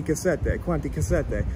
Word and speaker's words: Cassette: Yeah, because I asked somebody, an Italian guy about you, and he said cassette. Yeah, exactly. And I was like, okay, well, it makes sense because they pronounce the E. Exactly, cassette, exactly.